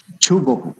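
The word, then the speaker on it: 中国: So okay, it's a different pronunciation if we pronounce by the Japanese word is since we call that Chugoku, right?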